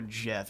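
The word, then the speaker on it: Djaf: I guess the pronunciation is is more Jeff, isn't it? It's a Jeff is an interesting interesting deity for the Nearens.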